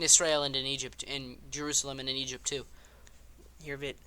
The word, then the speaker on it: Jerusalem: in it's quick aside it's yerusalem not Jerusalem I mean you can say Jerusalem I'll probably say Jerusalem but I like to use the the closer to closer to home pronunciation and maybe I'm butchering